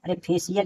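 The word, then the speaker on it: facial: तो इसी तरह देखिए एफ ए सी आई एन स्पेशियल यानी फेशियल इसे पढ़ेंगे फेशियल तो देखिए यहां भी दो आवेल के बीच में है सी तो इसे श का उच्चारण होगा फेशियल उसके बाद देखिए ओशियन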